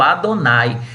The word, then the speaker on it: Adonai: E por esse motivo os israelitas passaram a usar o Adonai. Como se pronuncia?